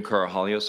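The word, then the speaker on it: Karahalios: thank you Mr Mather my name is carohalios I'm counsel for the witness Mr Victor the last name is spelled k-a-r-a-h-a-l-i-o-s uh thank you Mr commissioner for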